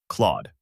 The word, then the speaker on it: Claude: The target pronunciation is Claude. Begin with the crisp K sound, followed immediately by L so it blends as KL. Keep it clean and quick. No extra vowel in between.